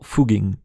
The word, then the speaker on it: Fugging: le village a été renommé en foging mais la prononciation dans le dialecte local reste la même le R est parfois